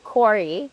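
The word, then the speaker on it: Kori: Uh it's spelled differently. It's spelled K O R I. Corey.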